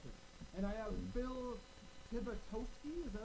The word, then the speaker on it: Tibitosky: I'm talking with Phil Tibitosky. Did I say it right Nope. that time, Phil? You should just give up. Tibitosky. Tosky. Tibitosky. There you go.